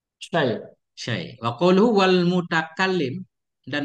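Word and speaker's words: شيء: Syai' itu bihadzfil hamzah dengan dibuang hamzah. Syai'. Sudah ya. Syai'.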